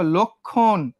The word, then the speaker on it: লক্ষণ: দেখো লক্ষণ, লর সঙ্গে কি যুক্ত আছে? লর সঙ্গে একটা অযুক্ত আছে, অর পরে আবার কি আছে? একটা ক্ষীয় আছে, তাহলে লটা লয়ে ওকার হবে না? লক্ষণ। দেখো এখানে ক্ষয়ে উকার কেন হইলো? লক্ষণ। উচ্চারণের সময় তুমি ও চলে আসলো, বুঝছো?